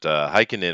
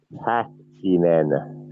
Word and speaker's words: Häkkinen: But Heikkinen, of am I pronouncing that correctly? Is that how you pronounce his name, Heikkinen? no, Häkkinen. Hakkinen.